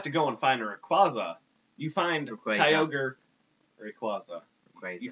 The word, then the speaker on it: Rayquaza: It's Rayquaza. It's Quaza. Quaza. Quaza. Quaza. How do you pronounce it? That's how you pronounce Rayquaza. Rayquaza.